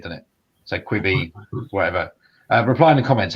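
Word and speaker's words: Quibi: It's supposed to be quick buy, so that makes it quibby, but that sounds a bit weird, doesn't it? So quibby, whatever.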